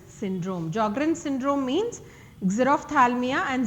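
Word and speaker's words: Sjögren: affected include the following Jr syndrome jrin syndrome means zero Thalia and xerostomia okay let me tell you here s is silent Jr syndrome this is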